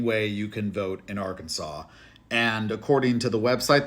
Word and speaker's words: Arkansas: should be spelled Arkansas as it's spelled but pronounced Arkansas theqa were the original inhabitants of the state